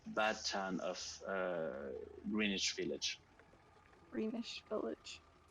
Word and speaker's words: Greenwich: town of greenwich village greenish village it looks like green witch but it's pronounced greenwich um i hope he